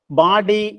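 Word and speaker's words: bawdy: ബി എ ഡബ്ല്യു D, sorry, B എ ബി എ ഡബ്ല്യു ഡി വൈ, ബാഡി എന്നാണ് വാക്കിന്റെ ഉച്ചാരണം.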